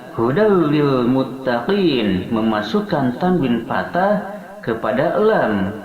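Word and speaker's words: هُدًى لِلْمُتَّقِينَ: Kemudian hudal lil muttaqin, hudan ada tanwin patah bertemu dengan lam, dia diidghamkan tanpa disertai dengan dengungan, sehingga membacanya hudal lil muttaqin, memasukkan tanwin patah kepada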